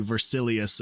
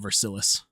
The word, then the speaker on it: Versilius: It is supposed to be Versilius and not Versilis.